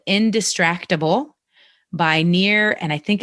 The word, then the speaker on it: Nir: and the other one is called indistractable by near and i think it's pronounced al but it's nir is his first um name and he has